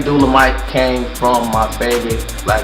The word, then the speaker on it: Dula-Mite: So, stuck with Dula-Mite, and it's stuck, even though some people still pronounce the shit wrong, like Dullah. It's not Dula-Mite, it's Dula-Mite.